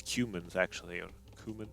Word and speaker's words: Cumans: I think it's Cumans, actually, or Kuman. I think it's Cumans. That's how they pronounce it in the campaigns.